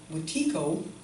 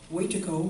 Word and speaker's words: Wetiko: They had a word that they described what the disease that they saw, the white invaders that had, called Wetiko, or Wetiko, or Wendigo. It has different pronunciations, but the translation is